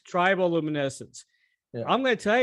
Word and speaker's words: Triboluminescence: Now, this is the first time I heard your last 2 solo albums, Metal Dog, and is it Triboluminescence? Is that how you pronounce it? Triboluminescence. Triboluminescence.